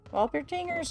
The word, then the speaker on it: Walpertinger: It's German. I thought it was German. Hold on. Yeah, it's a W. It's not a, it's a W sound, not a V sound.